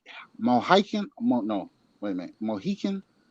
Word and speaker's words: Mohican: Mohican? How you say that? Eagle? You're saying it right. Huh? You're saying it right. Mohican?